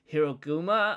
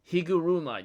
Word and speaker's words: Higuruma: Like, tell me about if you know of a sorcerer named Hiroguma, or how you pronounce his name, Higuruma.